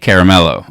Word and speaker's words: Caramello: speakerphone and and this she pronounced it straight caramelo and i was like